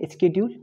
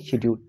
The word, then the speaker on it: schedule: ये जो है ना, इसकी अगर करेक्ट प्रोनाउंसिएशन आप देखेंगे स्केड्यूल, ठीक है, तो इसकी करेक्ट प्रोनाउंसिएशन है स्केड्यूल, मगर इसको हम पढ़ेंगे शेड्यूल।